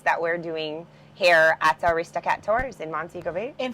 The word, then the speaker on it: Aristocat: of five boats that shower operates under the aristocat tours yes right did I pronounce that properly you did you did you